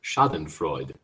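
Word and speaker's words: Schadenfreude: it shouting for uh the Google pronunciation is Shaden Freud shoten Freud so we are still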